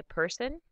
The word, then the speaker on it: Person: syllable in German so we say person in German person in English flexible in German flexible